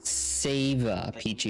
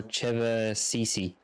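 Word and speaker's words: Ćevapčići: It sounds like it's not Seva peachy. It's like Cheva, Cheva peachy or Cheva Cici.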